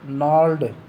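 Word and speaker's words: gnarled: अब जो है ना नाल्ड, इसमें जो नाल्ड शब्द आया है ये होता है, इसमें जी साइलेंट होता है, टेढ़े मेढ़ेपन का डिजीज़ रोग।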